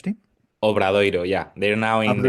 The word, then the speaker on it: Obradoiro: Then after 2 years at Obrador, is that how you say it? The Spanish O- team? Obradoiro, yeah.